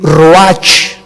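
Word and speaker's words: רוח: y exhaló Isaac el Roach así como suena se pronuncia la ciah en hebreo como J Roach se les halló y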